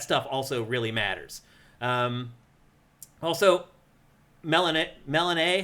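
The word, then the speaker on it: Melinoë: Also, Melanae, how do you say it? Melanae? Melanoe would be how I'd read that, especially with the umlaut over the E.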